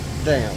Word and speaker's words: Eurodam: So we took the Eurodam. I like to say Dom because I'm just always confused. It sounds better, but they actually pronounce them Dam.